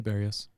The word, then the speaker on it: Berrios: Yeah, Berrios.